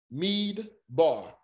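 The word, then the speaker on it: מדבר: me da the mead the d joins to the syllable which makes mead mead bar mead bar so at the beginning of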